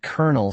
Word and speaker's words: colonel: Colonel and colonel sound alike. Colonel is a seed or core. Colonel is a military rank. This homophone pair confuses many. The silent L makes it tricky.